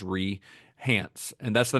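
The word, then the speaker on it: Rei Hance: name to Rehance, R-E-I, I think it's pronounced Rehance, and that's the name that she legally goes by now.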